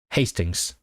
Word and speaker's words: Hastings: Is it Hastings or Hastings? I actually don't know how to pronounce it. It is Hastings.